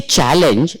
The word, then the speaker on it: challenge: So now here, where is the stress? Challenge. Where is the stress? First, exactly, in the beginning itself.